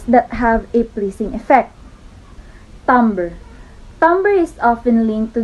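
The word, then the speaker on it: timbre: impression onto the canvas so tumber pronounced as tumber often referred to as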